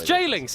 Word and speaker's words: Jlingz: have been a harder opponent for jings or Jungs however you want to say it right just change it's jings it's not it's it's just it's a you